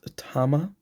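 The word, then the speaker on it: 玉: so we got Spider-Man Duncan is pronounced Tama so so think of Tom Holland um and think about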